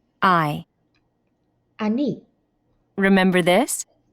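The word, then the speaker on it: אני: interesting very this is how you say I Ani let's see if you can say I Annie remember this say nice to meet you let's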